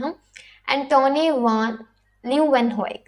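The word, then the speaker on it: Leeuwenhoek: एंटोनी वान ल्यूवेनहोइक. देखो, अगर आपको ये वर्ड प्रोनाउंस करने में मुश्किल आता है तो इसे ल्यू को कट कर दो, वैन यहाँ से ल्यूवेनहोइक. ओके, आप ऐसे इसे कर सकते हो.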